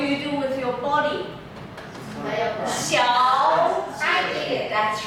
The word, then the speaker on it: 小姐: Two third tones together. 小姐 exactly. Abdomen. 小姐 Now you know whenever you do a high sound, what do you do? 小姐 What do you do with your body? 小姐 That's right.